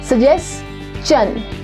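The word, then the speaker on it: suggestion: जहाँ पर भी आप STION लगाते हो वहाँ पे शन नहीं होता, शन की जगह वो चन प्रोनाउंस होता है। ये जैकी चैन वाला चन।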